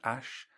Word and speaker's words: Æ: you know the word the letters A and E joined together apparently it's pronounced Ash and then a-12 for